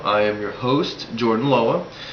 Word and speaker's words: Loa: I am your host, Jordan Loa. Loa is spelled L-O-A and pronounced Lo-A.